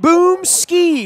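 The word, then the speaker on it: Boomskie: Barry Bloom can be followed at Boom Ski with a silent E there at the end, out on Twitter.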